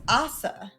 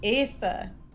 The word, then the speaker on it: Asa: because Chibi is Japanese, people will think it's Asa for like Japanese pronunciation. Yeah, I know a lot of people. I made that mistake too. It's Asa because it's Hebrew.